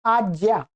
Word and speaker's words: आज्ञा: इस ज्या को उच्चारण तो कैसा कर रहे हैं? ऐसा ज्या। लिख तो ऐसा ही रहे हैं, पर उच्चारण आज्ञा। आज्ञा, आज्ञा। ठीक है, ज आ। तो इसका उच्चारण सही करना सीख लीजिएगा।